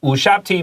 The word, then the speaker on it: Ushabti: afterlife 來世的好夥伴 OK, so 烏殺不提 Be careful 這個U 不是 like You YouTube It sounds more like Moon的 U sound 烏殺不提 All right That B is a little bit 輕輕的沒錯所以我們的這個副標題就寫到說塔尼斯 Tannis